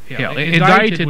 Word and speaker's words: indicted: you're guilty you're addicted indicted would mean that well invited the C is silent and now live on